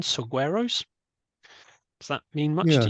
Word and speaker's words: saguaro: collect resources and store them in, excuse my pronunciation, saguaros. Does that mean much to you? Yeah. Saguaro.